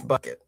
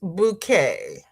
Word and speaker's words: bouquet: And and not miss bucket. It's bouquet. But it's spelled bucket. No, it's bouquet.